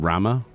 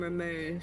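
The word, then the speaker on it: Ramuh: I remember when I was younger, I didn't know how to pronounce Ramu, so I used to call him Rama. Ah, let's summon Rama to delete the enemy. Well, I call him Ramu.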